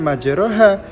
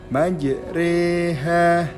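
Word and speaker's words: مجريها: pada kalimat Magic reh ketika tepat pada kalimat majreha itu di Batang dibacanya bukan majroha walaupun di Alquran tulisannya majreha akan tetapi kita membacanya majreha Ah itu tadi adalah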